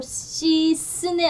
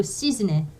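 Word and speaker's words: cisne: 그 다음에 이것도 시스네 아니고 시즈네. 그래서 에세 다음에 또 다른 자음이 연달아 오면 즈로 발음한다는 거 기억해 주시면 좋을 것 같고요.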